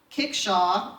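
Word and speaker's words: kickshaw: it was also French it borrowed from the French Kalka shows literally meaning something in the pronunciation of the day the L was dropped and it was anglicized to kick Shaw or kick sheets in the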